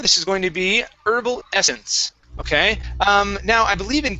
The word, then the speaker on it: Herbal Essence: States the H in herbs is silent. Okay. Okay. So you may hear something different from the Canadian or the British. No. Yeah, in the US this would be herbal essence.